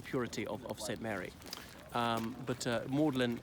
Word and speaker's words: Magdalen: Magdalene but in reference the colleges pronounce maudlin the thing is more de lijn ma UD li n also means exceeding sad